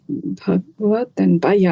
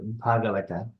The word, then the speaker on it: Bhagavata: So should we be pronouncing it as Bhagavat or Bhagavat? So it is Bhagavata. Bhagavat. Okay. Yeah. Bhagavata. One is book Bhagavata and another one is devotee Bhagavata.